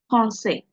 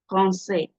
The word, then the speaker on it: français: Français, français, français. Can you see? I didn't pronounce the S. The S is not supposed to be pronounced.